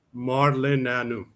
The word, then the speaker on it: Marleneanu: So pronounce it for us one more time, Coach. Marleneanu.